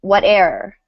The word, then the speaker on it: whate'er: So normally whatever would have 3 syllables. Um, when you see it written like this in poetry, you want to try to do it in 2 syllables. So whate'er, whate'er, whate'er, Let me whate'er try.